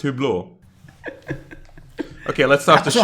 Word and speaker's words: Hublot: Or is it, wait, it's pronounced Hublot? Is that how it's pronounced? It's pronounced Hublot.